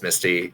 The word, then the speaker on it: Misty: SPNatI development from Misty Knight, or maybe it's Mystic Knight. Never really knew how to say his name. Misty. Yeah, it's Misty.